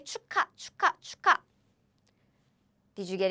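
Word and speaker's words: 축하: So we read it as cha chu because there is a ch here and ca because this is now a so this is how we pronounce chuka means celebration. It's a noun cha we don't say cha cha. We don't say it this way. We say chuka cha cha.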